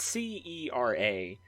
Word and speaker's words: Cera: You have what's called mileage, and then you have what's called, I think it's pronounced Cera or Cara. It's Cera.